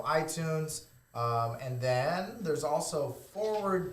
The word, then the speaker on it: FWRD: and then there's also Forward TV, and it's spelled FWRD, and that stands for forward, not the F word.